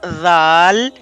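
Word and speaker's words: ذ: of pronunciation, which is by touching tip of the tongue with the edges of upper front two teeth.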